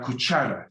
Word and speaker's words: cuchara: The spoon, la cuchara. CH is like chimney.